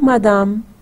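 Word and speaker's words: madame: जैसे हम उर्दू में कहते हैं बादाम, तो बादाम बे अलिफ बा की जगह मीम अलिफ मा लगा दें.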